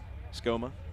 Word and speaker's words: Suchoma: Did you get a pronunciation on that, Dave? S-U-C-H-O-M-M-A? Is that what he told you? Or are you just Skoma? Okay, thank you. We'll go with that. Suchoma, that's what I was going with.